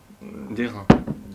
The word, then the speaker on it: d'airain: L'auberge du Griffon d'Arin. D'airain, pardon. D'airain, la prononciation, on laisse ça après.